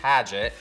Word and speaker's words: Paget: to say pressure because technically it's pageant but you can say thank you not yes